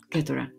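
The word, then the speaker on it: Keturah: K-E-T-U-R-A-H.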